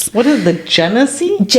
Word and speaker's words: Genesee: What is the Genesee?